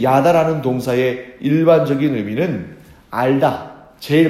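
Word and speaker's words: ידע: 히브리어에서 알다라는 동사로 쓰인 단어는 어떻게 발음하냐면 야다라고 발음합니다.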